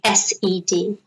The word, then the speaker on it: said: past is set oxide said said like sed okay and didn't know